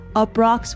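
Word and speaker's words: Uproxx: travel writer for publications like NatGeo outside magazine up rocks which is spelled UPR oxx and more it's a really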